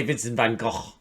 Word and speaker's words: Vincent van Gogh: And I say Vincent van Gogh because that's how you pronounce it.